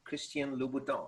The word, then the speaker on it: Christian Louboutin: and now i got the i got the pronunciation perfected christian louboutin and i can say it like a french